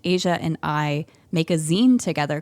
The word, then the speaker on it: zine: Yeah, and also a lot of people probably have no idea what a zine is, which is spelled Z-I-N-E. Yes, like magazine, but Correct. for short, zine.